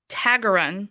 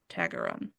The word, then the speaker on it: Taggerung: You don't pronounce the G. Taggerung, Tag.